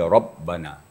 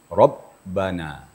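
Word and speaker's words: ربنا: Sifat ba itu adalah ee syiddah. Syiddah artinya apabila membacanya suara tertahan. Apalagi kalau dia sedang bertasydid seperti rabbana. Jadi suara kita tertahan jangan mengalir. Rabbana. terputus suaranya tapi napas tidak.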